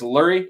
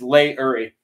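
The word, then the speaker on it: Leury: By the way, I pronounce this Lurie. It's Lay-Uri.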